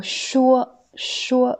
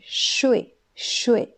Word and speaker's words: 说: Ensuite, le mot 说, 说, quand c'est cette prononciation, c'est un verbe qui veut dire parler. Exemple, 这个学生可以说 6 种语言。这个学生可以说 6 种语言。 Ça veut dire cet élève peut parler 6 langues. Ensuite, la 2e prononciation, c'est 睡, 睡, 4e ton.